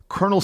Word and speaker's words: colonel: in English the Original Italian spelling was taken but the pronunciation was pronounced in the French manner which had a completely different spelling and by the way Colonel Sanders the founder of